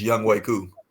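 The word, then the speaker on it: Younghoe Koo: name on the live in the PO but young way is that the correct pronunciation young way it's young way cou okay yeah young way cou I picked him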